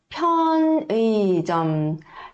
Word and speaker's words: 편의점: Perceberam que todas elas a gente vai pronunciar colocando o ar da boca e o ar tem que bater aqui na palma da mão, tá bom? 편의점.